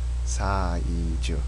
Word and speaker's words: 사이즈: Sa I chu. Now in Korean there's no Z sound, so it becomes a J. J u. Sa I chu.